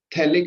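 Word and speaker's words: phthalic: थैलिक acid, pH आपका silent है इसमें, थैलिक एसिड।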